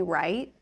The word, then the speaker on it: right: a little bit faster, I drop the T's at the end. It's a stopped T sound in American English. Right. Light. Right.